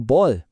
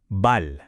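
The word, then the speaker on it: 발: Now, kapag ito ay nasa dulo as a batchim, palaging mayroon siyang malambot at parang dumadaloy na L sound. Parang L sa salitang ball. Tandaan niyo 'to ha. Hindi ito kailan man binibigkas na parang R.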